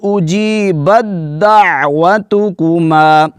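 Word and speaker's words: أجيبت دعوتكما: قال قد اجیبت دعوتکما، یہاں پر تا کا ہم نے ہجے نہیں کرنا، کیونکہ تا کا دال میں ادغام ہو چکا ہے، با کے بعد دال کی واد ہوگی، با کے بعد دال کی آواز، بدعوتکما، قال قد اجیبت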